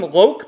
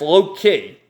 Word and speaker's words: Loke: So, now they're over here, and you got Gray, and this guy, I called him Loke, but it's actually, his name is pronounced Loki.